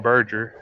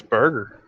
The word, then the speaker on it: Berger: I was saying Berger, and it's not Berger. It's, I guess, Burger.